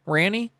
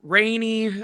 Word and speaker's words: Ranney: Did I pronounce your name right, by the way, Ranny? Yes. You're actually one of the only people that have ever pronounced it right. So, hell yeah. That's good. What's What's the worst uh pronunciation of your name uh that you've gotten? Well, honestly, I've heard Rainey. Um.